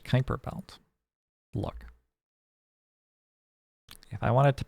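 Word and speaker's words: Kuiper Belt: for some X coming it's pronounced Kyper Belt look if I wanted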